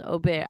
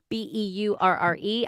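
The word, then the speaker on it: au beurre: Aubere. I'm saying it wrong. Beurre. I can tell you false.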